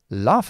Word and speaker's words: laugh: Laugh about. So, what are you laughing about? Or don't laugh about that. Laugh. Lef. The American pronunciation would be lef.